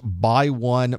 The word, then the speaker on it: x1: see that they are written with this X1 X2 X4 but it's actually pronounced by 1 by 2 by4 by 8 Etc